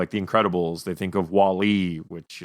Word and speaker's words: Wall-E: I've never heard anybody emphasize the E in a Wall-E. It's Wall-E. Oh, should it be Wall-E? Sorry, Wall-E. So you emphasize the wall.